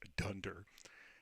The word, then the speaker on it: dunder: suggestion if Dunder name those double underscores are pronounced Dunder uh for double under if Dunder name equal